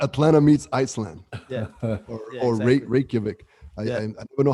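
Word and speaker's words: Reykjavík: felt iceland atlanta atlanta meets iceland yeah or reykjavik i don't know how to pronounce that capital i think you said it right reykjavik but it's cool it's cool to explore the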